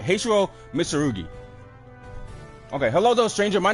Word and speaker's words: Mitsurugi: Isn't the name of one of my blades Mitsuguri?